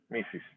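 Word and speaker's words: Mrs.: broken front steps alright so remember this is mrs mrs mrs missus okay the word here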